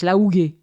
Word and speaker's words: Laougué: So it's LA OU GUE. Don't think about it too much. Laougué. Deciding how to read proper names is difficult in French, especially when it comes to the silent S at the end. But in this case, I don't think there are any other ways to say this. It's, Laougué.